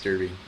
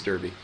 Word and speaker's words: Derby: ] impossible um it's it's Derby dude it's Derby I mean if you want to say it correctly it's Derby um nice haircut thank you